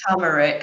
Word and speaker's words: turmeric: I read them and I think I say turmeric I never made the next under that code